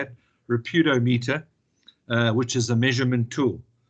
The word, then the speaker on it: Reputationometer: Reputationometer, which is a measurement tool.